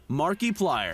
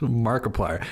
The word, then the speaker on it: Markiplier: annually from ads alone markiplier son it's easy to forget why do you say his name like that markiplier he's just markiplier markiplier's been killing the